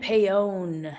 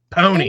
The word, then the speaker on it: Paone: do you pronounce it? I thought it was all these years. I've thought it was Paone. I know Not everybody Paone. does. Which I one is know. it? Paone. Pony.